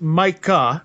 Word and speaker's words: Micah: here too and uh your name is mike kah in case anyone's not hearing it correctly m-i-c-a-h that is right yes i always appreciate